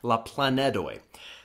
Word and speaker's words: la planedoj: Oh a small plan so we have to use D instead of teen make sure to pronounce that clearly la plan Ned away let's look at some